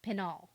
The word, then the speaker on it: Penault: And this is a whole thing throughout the book where she says she wants her last name to be pronounced the French name, way. which is Penault.